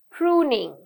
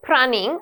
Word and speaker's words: pruning: Pruning, pruning. It's not prunning, okay? Though you write it like this, you pronounce it as pruning.